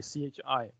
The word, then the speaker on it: chi: this notation q chi this is not x but chi c h i pronounced as chi now q chi is